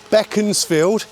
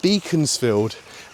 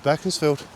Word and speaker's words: Beaconsfield: Basically, if you know anyone from here, that's the way it's way we pronounce it. Um, but I tell you what, Beckansfield is not Beaconsfield.